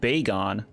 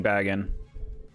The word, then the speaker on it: Bagon: That's another thing I learned in my videos talking about this Pokemon, is this is supposed to be pronounced Bagon. But I do like saying Bagon.